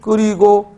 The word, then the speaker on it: 끓이고: 저녁 반찬으로 찌개를 끓이고, 역시 리을 히읗에서 히읗은 탈락하고 리을은 연음되므로 끓이고. 맞죠?